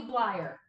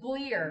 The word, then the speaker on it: Bleier: Rocky Blyer. Did I get it? Good job. Or is it Bleer? Nope. Or Bleier? Stop while you're ahead. Blyayer. You had it right the first Blyayer.